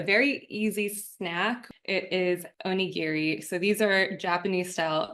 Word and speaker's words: onigiri: The Japanese pronunciation is more like onigiri, but we're going to say it like an American, onigiri.